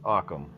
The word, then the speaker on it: Ockham: It's pronounced Occam. It Ockham. rhymes with Oh, awesome. awesome.